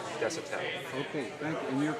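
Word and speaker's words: Desautelle: your last name Chris it's d e s a u t e l l e Des pronounce desel okay thank you and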